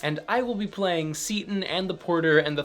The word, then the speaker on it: Seyton: wrong when they go for that long a pronunciation but then the great vowel shift happened and this became seaton and since Shakespeare lived in the middle of